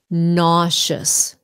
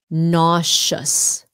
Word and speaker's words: nauseous: dizzy dizzy nauseous nauseous a lot of people pronounce this word incorrectly nauseous two syllables nauseous nauseous sounds like an sh nauseous when you're the